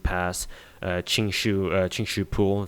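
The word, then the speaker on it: Qingxu Pool: uh ching shu uh ching shu pool that's how i pronounce it in chinese but uh yeah i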